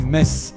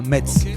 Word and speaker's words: Metz: test chez nous on dit Metz et pas Metz c'est pour éviter tout ambiguïté avec les tons d'à côté d'ailleurs par ici on se demande pourquoi les Français ont cette manie de toujours le prononcer à l'allemande ça doit être ça